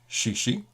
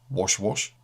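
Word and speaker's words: 谢谢: Though proper pronunciation is essential, I discovered that instead of saying thank you, shishi, I had unintentionally been saying wash wash, and that could have been quite embarrassing.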